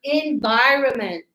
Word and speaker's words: environment: mistake, is this one, environment. Remember, yeah, the N is a tricky one. The sound is, it's like cut. Environment. Yes? We don't say environ, so we go environment.